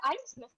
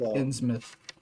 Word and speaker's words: Innsmouth: This person definitely doesn't seem to like Ainsmouth very much. It's also No, pronounced that's Innsmouth, I believe.